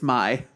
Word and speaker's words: Mai: star I'm pretty orange is it really you Ghia really again mispronouncing it it's my oh my god my Valentine mm-hmm whatever kid